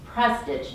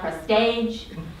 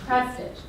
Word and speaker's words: Prestage: that Mr prge and that's how you say his name it's prge not prig not any other way it's prage I've worked with Ron